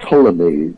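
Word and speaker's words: Ptolemy: back to a scientist called Tommy spelled with a p who was a Greek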